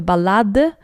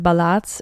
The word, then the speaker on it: ballade: like her ol a small note on pronunciation of this word we have a balad and ballad in musical context when speaking about Chapan balads we usually would use balad and when speaking about the English poems we say ballad um